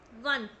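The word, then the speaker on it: one: रहे हैं ना हम because वन begin with the consonant sound of डब्लू की साउंड क्या होती है वा वन यस अगर आप साउंड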